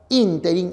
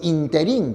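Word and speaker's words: ínterin: encontraron en la cafetería a decir la palabra interin es esdrújula por lo tanto la expresión interí que algunos emplean es impropia te das cuenta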